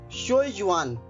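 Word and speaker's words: 学院: ये है शोयुआन। इसकी स्पेलिंग नोट कर लीजिए, XUEYUAN।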